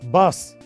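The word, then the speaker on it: باص: फिर बस, बस की अरबी है बास। वो भी बस बोलते हैं लेकिन थोड़ा सा प्रोनाउंसिएशन में फर्क है।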